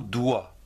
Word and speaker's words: doigt: Le mot doigt, le doigt, de la main, le doigt. D-O-I-G-T, le doigt, comme ici.